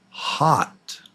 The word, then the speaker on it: hot: The one on the right is the short O, and it's ah, as in hot. So hat, hot.